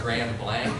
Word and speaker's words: Grand Blanc: And I was corrected and told it was Grand Blanc. And I didn't argue my case, but I think the French would have pronounced it.